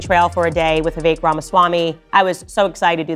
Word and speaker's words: Vivek Ramaswamy: I was saying Vivek. His name is Vivek Ramaswamy.